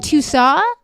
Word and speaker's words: Tussauds: In Tussauds. Like that? Like Russo, but with a D that is not pronounced.